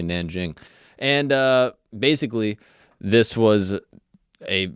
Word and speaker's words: Nanjing: It's I always heard it as king. That's what I always thought, but apparently Nanjing.